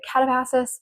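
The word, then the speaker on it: Katabasis: And then finally, I started Catapassis by RF Kuang. Um, I know there's some controversy on how to pronounce it, but the author says you can say it like that, so I'm going to say it like that.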